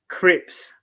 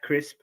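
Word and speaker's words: Cripps: it is um patrick crips was my bold prediction last week clinton um yes i'm slowly learning how to say his name it's not jack crisp my prediction was for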